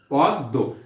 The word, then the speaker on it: পদ্য: দেখো পদ্য শব্দটার শেষে মফলা আছে এবং শেষে মফলা আছে তাহলে আমরা এখন বুঝবো যে দ এর সাথে যেহেতু মফলা যুক্ত আছে এবং শব্দের শেষে আছে সুতরাং এই দইবার উচ্চারণ হবে।